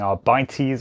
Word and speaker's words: Arbites: - as they were pronounced throughout the preview, in spite of me always saying Arr-Bite-ees or "our bites" in my head, are a glorious set of miniatures.